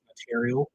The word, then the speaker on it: notarial: So the correct pronunciation is notarial.